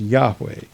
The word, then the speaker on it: Yahweh: the proper valves are inserted the name is pronounced yahweh according to the common miriam webster's ninth collegiate uh ninth new collegiate dictionary in 1987.